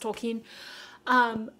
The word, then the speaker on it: Tolkien: I call him Tolkien, but I've heard it's pronounced Tolkien.